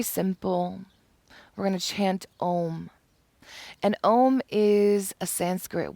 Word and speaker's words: Om: And we don't realize that while it's spelled OM, it's not pronounced Om, it's pronounced Om, like the word ox, O-X, ox.